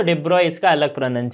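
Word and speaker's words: de Broglie: डी ब्रोग्ली इसको कहीं इसका जो एक्चुअल प्रोनंसिएशन है वो क्या है डिब्रॉय इसे हम इस तरह से प्रोनाउंस करते हैं डिब्रॉय ओके तो बट नॉर्मली हम इंडिया में डि ब्रोग्ली ही बोल देते ओके डिब्रॉय बोलोगे तो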